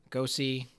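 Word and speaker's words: Gose: up before the show it's a goes a go see gas gos e is how it's pronounced and it is bruised with raspberry in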